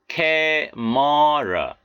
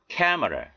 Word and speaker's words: camera: 카메라가 아니고요. camera, camera. 오늘 나온 단어지요.